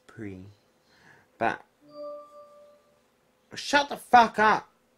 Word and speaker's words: Prix: For those of you who are really retards, the X is silent, it's pre.